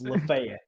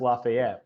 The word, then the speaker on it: Lafayette: no I don't yeah I know it was LaFayette but it's it's actually pronounced Lafayette but you dumb bucks call it Lafayette also